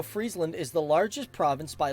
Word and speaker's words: Friesland: now from what i've heard it's actually not pronounced friesland like french fries it's more like friesland like you know it's frozen it's not actually